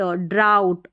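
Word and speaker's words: drought: एच का आऊ आऊ और टी को ट ड्राउट और यह है स्लाऊ इन तीन स्पेलिंग्स में जिनका ज्यादा इस्तेमाल होता है प्लाऊ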